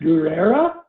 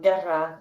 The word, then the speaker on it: Guerra: in between there and your last name is it pronounced guerrera or is it guerra i sometimes it's it could be either way yeah no it's it's the latter so guerra is uh warren all